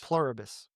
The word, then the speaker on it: Pluribus: Pluribus. How do you say how do you spell that?